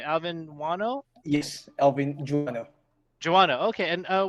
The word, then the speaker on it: Guano: everyone uh this is alvin and am i pronouncing right alvin wano yes joanna okay and uh where are you